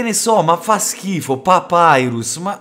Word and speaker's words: Papyrus: classici che ti fanno se non si dice papirus si dice papyrus mannaggia la miseria la